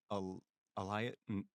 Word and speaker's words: Ilias: It was Elias or Elias? I forgot That how to was it. pronounce it. Oh, I think they can go both ways. Listen, man, it's I'm or- American, man. We have so many words that you could pronounce it one way or another way, and they spell the same. It's Ilias. Okay, Ilias. It was Ilias.